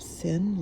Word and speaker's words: Cynn: She says, "You're gonna call yourself Sin, like a sin?" And I said, well, no, I didn't think of it that way, but I'll spell it Cynn, but it's still gonna sound like sin.